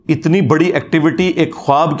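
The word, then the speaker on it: خواب: वाव उड़ जाती है इसको पढ़ने का तरीका है ख्वाब ये खवाब नहीं पढ़ा जाता वैसे उर्दू में चल भी जाता है लेकिन ये लफ्ज़ है ख्वाब तो वा उसमें फिर साइलेंट हो जाती है तो यह जो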